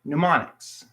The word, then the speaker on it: mnemonics: m in is that when the m n is in the beginning of a word you do not pronounce the m so mnemonics m n e moniks